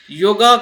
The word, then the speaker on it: योग: ही योग है, और योग को कभी कभी योगा के जो ये लग जाता है तो योगा कहा जाता है, जबकि उसका जो रियल प्रोनाउंसिएशन है योग है, योगा नहीं। लेकिन इंग्लिश में जब उसको